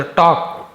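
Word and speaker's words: talk: There टॉक, उनकी बातों ने, तो टॉक एल यहाँ पे साइलेंट है, एल को नहीं पढ़ेंगे, टॉक नहीं बोलेंगे, टॉक बोलेंगे।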